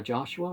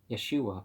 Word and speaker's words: Yeshua: In return, Rabbi Joshua, or Yeshua probably, because there's no J sounds right, pronounced the word